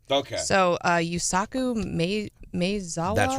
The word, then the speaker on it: Yusaku Maezawa: I do feel bad that I didn't look up the proper way to pronounce this guy's name. Okay. So, Yusaku Maezawa?